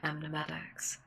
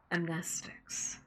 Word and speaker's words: amnestics: Individuals affected by instances of the broadcast are to be administered class A amnetics. Amnestics, that's how you pronounce that word, amnestics.